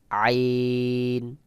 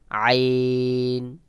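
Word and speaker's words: عين: হবে যেমন এরপরে রয়েছে আইন আইন আইন আইনের মাখরাজে গলা একটু চাপ দিয়ে উচ্চারণ করতে হবে যেমন আইন তারপরে রয়েছে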